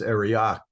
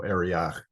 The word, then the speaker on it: Arioch: It's Arioch, which is kind of pronounced in modern Hebrew as a CH sound. So Arioch.